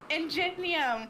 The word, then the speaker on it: Ingenium: In the pronunciation. Is it Ingenium or Ingenium? Ingenium.